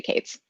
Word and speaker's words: k8s: will and so um k8s uh either just pronounced out loud kubernetes occasionally people will say caves okay nice and k3s